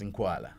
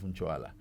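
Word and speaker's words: Ncwala: uh they they've been called pronouncing it as Inkwala.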